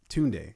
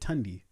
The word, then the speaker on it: Tunde: yeah uh daughters has my tunde name but they kept pronouncing it tandy and i was just like that's not it i mean y'all couldn't